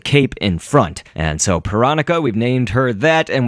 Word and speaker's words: Pyronica: cuz you know pyro panica but just going off of how Bill Cipher pronounced her name in the episode where he introduces all of his friends it is panica and in one of